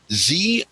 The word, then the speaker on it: Xi: The X is pronounced SH. The what? The X in Z is pronounced SH. So it's Xi Jinping.